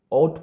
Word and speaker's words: ought: पहले बात तो इसे आउट पढ़ते हैं, इसे आउट आउट नहीं पढ़ते। अगर जो मैंने अभी गलत प्रोनाउंसिएट कर दिया उसके लिए सॉरी। इसे करेक्ट आउट पढ़ते हैं, और हो